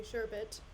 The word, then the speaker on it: sherbet: make sherbet or or some people say sherbet um which is technically the right pronunciation side note sure bit but I refuse to convert um either Sherbert or potato chips tomorrow